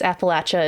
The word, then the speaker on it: Appalachia: And if I forgot to ask, you know, is is Appalachia, is that the right way to say it? Yes. Yeah, you nailed it. Okay. I grew up saying the Appalachian Mountains cuz I'm from the